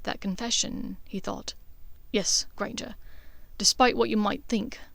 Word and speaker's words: Granger: Granger. It rhymes with danger, you know.